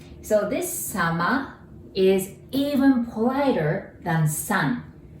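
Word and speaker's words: 様: And if you wanted to say politer way of otsukare, all you have to do is to add sama. Sama. Sounds like summer, but sama.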